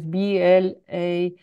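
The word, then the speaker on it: Blaser: Martin Blazer is BLASSER, and Maria González Bello.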